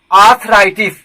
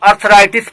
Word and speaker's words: arthritis: Next word आर्थराइटिस, ARTHRITIS, correct pronunciation is आर्थराइटिस। बहुत लोग अर्थराइटिस पढ़ते हैं, जो गलत है, यह ब्रिटिश रिसीव्ड प्रोनाउंसिएशन है, ठीक है।